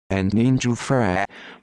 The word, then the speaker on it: Antonino Giuffrè: Antonino Giuffrè, Italian pronunciation, Antonino Giuffrè, born the 21st of July 1945, is an Italian mafioso from Caccamo in the province of Palermo, Sicily.